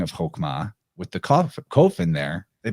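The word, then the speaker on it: Chokmah: shows up in Kabbalah through the sphere of chokma or actually more appropriately pronounced hokma hokma and uh that's spelled hey kof mem hey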